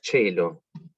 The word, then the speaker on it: caelo: Que la palabra caelo, como se pronunciaría originalmente, se pronuncia cello. Eso es porque la C, para los que saben italiano, sabrán que la C con E o I se pronuncia ch.